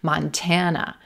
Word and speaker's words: Montana: It's a ma, mon, mon, but it's not stressed. We're not going to stretch it. We're not giving it the open hand treatment. And then we have a schwa, as our final syllable.